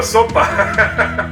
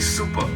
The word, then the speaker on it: Zuppa: said anything not super sopa listen it no it's okay so it's not called sopa it's actually super it's spelled z-u-p-p-a super